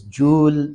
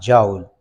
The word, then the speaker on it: joule: term so very technically our teacher in the University told us that this is Jewel not Joel but whatever you are